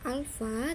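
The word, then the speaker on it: α: L sama dengan L0 dikali 1 ditambah alfa dikali delta T. Ini bacanya alfa ya, ini bacanya beta, ini bacanya gamma.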